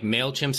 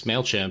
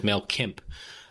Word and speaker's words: MailChimp: And some lady was reading off a card and didn't know how to pronounce MailChimp. She pronounced it as MailKimp.